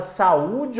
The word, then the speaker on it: saúde: A palavra saúde, minha gente, quando você tem a palavra saúde, observe, saúde. Você tem aqui uma palavra que tem, ó, a penúltima sílaba tônica.